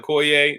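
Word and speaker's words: Koia: the the the chao i can never pronounce it it's k-o-i-a the koi i'm gonna call it koye the koi drink and then the fat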